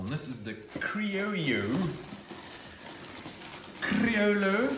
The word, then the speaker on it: Criollo: Criollo, but you don't pronounce the L's apparently.